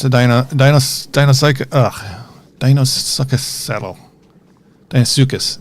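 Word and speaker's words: Deinosuchus: Dinosuchus, that's how you say it.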